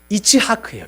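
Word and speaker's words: יצחק: 이 원어로 보면 히브리어로 이삭이 웃다라는 그 단어가 뭐냐면 이츠하크예요. 이츠하크. 비슷하죠? 발음이 이삭, 이츠하크.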